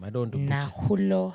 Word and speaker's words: Nakhulo: Nakhulo. K is silent in both, so it's Nakhulo.